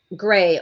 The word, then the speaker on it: Grei: So there was a woman, Gray, only it's spelled Grei, Mendez, in the Bronx, who just started a daycare this year.